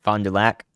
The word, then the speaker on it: Fond du Lac: Lac, Fond du Lac. Just the Lac. I said it right. Let's go. Thank you, guys. Hey, I remembered. So that hail's about to move into Fond du Lac.